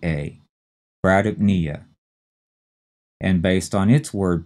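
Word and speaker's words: bradypnea: the third syllable so we have two syllables we have to say pretty fast and run them together and put the stress on knee so this is brdp nia brdp nia b r a d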